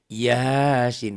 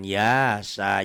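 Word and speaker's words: يس: Yasin bacanya kayak gitu ya. Yas, jangan yasa, jangan kof.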